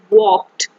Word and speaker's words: walked: is hamza and azlan walked to school so in this word walked um the l letter is silent it is highlighted with